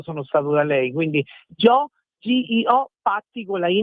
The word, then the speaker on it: Gio: Invece potete digitare G. Io dico sempre la G, che è di gioia, per dire qualcosa di bello, la I e la O. Quindi Joe, scritto proprio come si pronuncia in italiano, Patti.